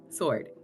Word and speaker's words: sword: hold on s s it sounds like sod yeah it also looks like sod like why do we have silent silent letters I don't understand like